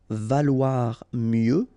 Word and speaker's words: valoir mieux: Valoir mieux, final X not pronounced, valoir mieux. Se vendre en, and then here example, bouteille.